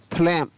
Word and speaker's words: phlegm: GM हो तो जी का उच्चारण भी नहीं किया जाता। जैसे PHLEGM, क्या पढ़ेंगे इसको? फ्लैम, तो यहाँ पर भी GM है और यहाँ पर जी को नहीं पढ़ा गया।